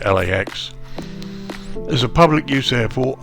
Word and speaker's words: LAX: Los Angeles International Airport, KLAX, often referred to as just LAX, with each letter being pronounced individually, in other words LAX, is a public use